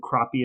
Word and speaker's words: crappie: have been crappy but i watched four different youtube videos of people in alabama fishing for this fish and they all said crappie as well that is my ablutification